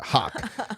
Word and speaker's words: Hoke: jessica jessica grant saying in arkansas they pronounce it hawk jessica hawk hawk jessica